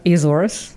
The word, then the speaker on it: Azores: How did you pronounce it? Azores.